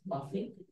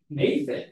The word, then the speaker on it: mafic: Close. Muffin. Nope. Oh. Mafic. Very good.